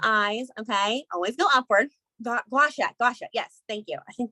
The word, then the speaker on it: gua sha: Gua sha.